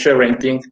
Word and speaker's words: sharenting: cuando arrancamos este evento la palabra que digamos en estricto su pronunciación es ser vending pero como dirían en